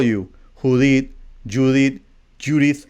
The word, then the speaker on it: Judith: it's with TH at the end. So it's Judith.